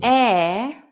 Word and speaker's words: heir: heir Heir, H-E-I-R, is the person who will inherit the things when you die.